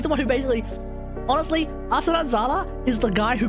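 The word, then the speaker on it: Athrun: We now need to introduce you to a guy by the name of Asran, or Athran, but I refuse to call him Athran because that's the dub name and it sounds shit.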